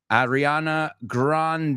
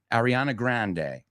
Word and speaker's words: Ariana Grande: for Chris number one Jason Schwartzman number two Adriana Grande as we pronounce it Ariana Grande and we've got Nick Offerman Nick Offerman and